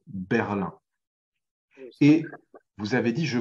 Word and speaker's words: Berlin: passage, mais la ville, on la prononce Berlin, la capitale allemande, Berlin.